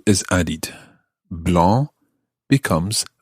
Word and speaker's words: blanc: a bit better an h e is added blah becomes blanche that's b-l-e-n-c-h-e blah blah blah blah